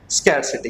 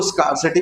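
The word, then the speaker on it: scarcity: Next, अब आती है बात स्कैरसिटी की, क्योंकि स्कैरसिटी जो वर्ड है, ये इसको स्कार्सिटी भी बोलते हैं, स्कैरसिटी भी बोलते हैं, ये एक प्रोनाउंसिएशन की बात है।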